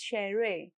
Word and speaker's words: Schere: German SCH always sounds like English sh. So Schere is Schere and Schulranzen starts with Schul.